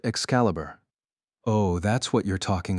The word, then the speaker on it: Excalibur: But in the game, it's pronounced Excalibur."